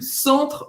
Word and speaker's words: centre: Centro em francês, centre. Centre, EN em francês, tem o som do en. Ó, presta atenção que não é aquele A que Não.